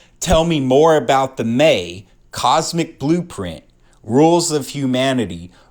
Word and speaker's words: me: The May as the source code of the May tricks. In Sumerian myth, the may pronounced may were the physical objects